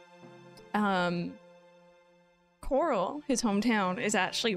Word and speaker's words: Corel: left of Barrett's Hometown Coral or Corel or however you want to say it I usually say Coral um hi Madeline how